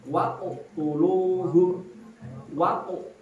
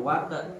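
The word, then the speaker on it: وَقَاتِلُوهُمْ: Waqu tuluhum. Jadi sambil monyong bacanya waqu tuluhum. Dan waqe ya nggak bisa. Waqe tuh ya bisa. Dia harus monyong.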